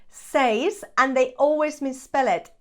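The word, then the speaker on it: seis: tres cuatro Cinco says I am not sure why this one is always pronounced wrong says and they always misspell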